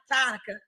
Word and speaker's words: Tanica: had all wrong T Tanica it looks like Monica with a t so I get it